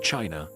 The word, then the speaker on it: qi: In ancient China, health was never just about flesh and bone. It was about energy. The invisible, vital force called qi, pronounced chi, flowed through every living being.